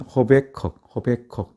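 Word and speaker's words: Habakkuk: 영어로는 허베컥 이렇게 발음을 하고 우리말로는 하박국 그대로 이렇게 지어져 있습니다.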